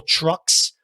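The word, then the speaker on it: Trux: garage punk san francisco's royal trucks spelled with tr ux and new york city's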